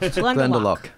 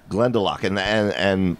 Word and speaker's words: Glendalough: Matt, how is this pronounced? Glendalough. Glendalough.